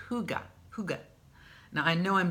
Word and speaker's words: hygge: pronounce that but is according to the experts it's hooga hooga is a word